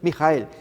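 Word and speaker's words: Mikael: pacto fíjense amigos como este ser miguel que significa su pronunciación es mi hija el que significa quien como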